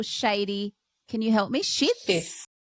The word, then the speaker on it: schists: No, it's not shits. Okay. It's shists.